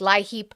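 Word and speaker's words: LIHEAP: It's spelled like lie heap.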